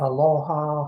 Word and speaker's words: aloha: with the world our aloha spirit. Aloha is 2 syllables. Alo means to gather, or just 2 people meeting, to gather in an assembly, to share the ha, the second syllable.